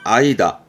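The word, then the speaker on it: 間: 혼자 두면 사이를 의미하겠죠. 이때 발음은 아이다.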